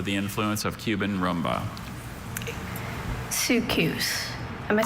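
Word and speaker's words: soukous: Sukus.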